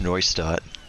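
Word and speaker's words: Neustadt: dad yeah yeah it's it's pronounced noise start like noise game the game battery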